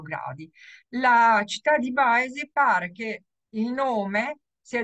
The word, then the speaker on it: Boise: Allora, questa mappa è una mappa della città di Boise, si pronuncia Boise, perché pare che siamo praticamente nella parte nord-occidentale degli Stati Uniti che confina col Canada.